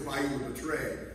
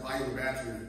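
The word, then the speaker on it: Bayou La Batre: And before we went to it, it was Bayou Betray. But when we learned that they pronounced it Bayou Battery, that's what we went with.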